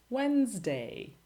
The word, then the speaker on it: Wednesday: Silent D. Handsome, Wednesday, sandwich.